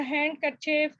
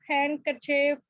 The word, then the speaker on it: handkerchief: A silent letter is left unpronounced such as the D in the handkerchief, handkerchief, the N in the atom, and the P in the cupboard.